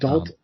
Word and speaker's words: Dolton: It's pronounced Dalton.